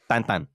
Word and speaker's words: Tintin: out in my life how Tintin's actually pronounced and it blows my mind it's tan what that's how they pronounce it in Belgian T where's he from